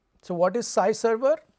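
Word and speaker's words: SciServer: to the SPSS data this note is different from Sky server which is spelt sk y sy server is s CI so what is sie server it's a collaborative research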